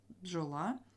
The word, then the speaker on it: бджола: на у далі бджола в слові бджола тут шість літер але п'ять звуків Чому Тому що Дж - це один звук пджола і тут всі тверді